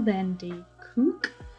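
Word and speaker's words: van der Kolk: keeps the score by vessel then d kook i think is how you pronounce it um i gave this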